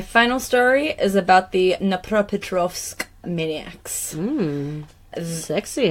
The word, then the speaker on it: Dnipropetrovsk: How do you say it again? Dnipropetrovsk. Dnipropetrovsk. But look how it's spelled. It's a silent D.